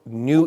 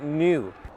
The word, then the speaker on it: NIU: when I say new it's actually spelled NIU I believe it's pronounced new so new has done